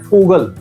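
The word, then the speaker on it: Vogel: लेकिन हकीकत में बोल हम क्या रहे हैं? फोगल।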